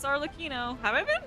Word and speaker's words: Arlecchino: Oh my god, Arlecchino, thank you for Arlecchino.